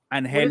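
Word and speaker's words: Ángel: Then we have got Luis Angel. Am I saying that right? Luis Angel? Angel. Acuna? You pronounce the G with an H sound. Angel.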